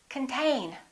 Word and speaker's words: contain: repeat after me control the next one is the same this o is reduced this syllable is stressed contain repeat contain let's look